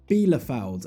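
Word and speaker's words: Arminia Bielefeld: points adrift of armenia belafould as i'm told you say that correctly apparently i've been adding some extra syllables into their name which you know i'll accept it i'll try and change armenia bilofeld yeah german's coming along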